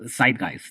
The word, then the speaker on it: Zeitgeist: teoría de conspiración, que se llama, José sabe pronunciar el nombre mejor. Dilo. Sí, es en alemán es Zeitgeist.